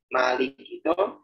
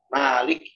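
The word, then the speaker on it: مالِكِ: Jadi Malik itu sering sekali Al-Fatihah itu Malik itu kalau diwasalkan makafnya jadi sukun tanpa kita sadari kadang. Malik yaumiddin. Harusnya Maliki yaumiddin. Maliki. Jelaskan lamnya kasroh, lamnya kasroh.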